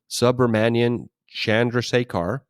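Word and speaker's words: Subrahmanyan Chandrasekhar: It's actually pronounced exactly the way it's spelled, Subramanian Chandrasekhar.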